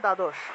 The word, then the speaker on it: দ্বাদশ: তারপর মনে করুন যে দ্বাদশ, বাংলায় বললে দ্বাদশ, কিন্তু সংস্কৃত উচ্চারণের ক্ষেত্রে দয়ের নিচে বফলা থাকায় দুও উচ্চারণটা আসবে, দুও, ঠিক আছে, দয়ের নিচে বফলা থাকায় দুও উচ্চারণটা আসবে।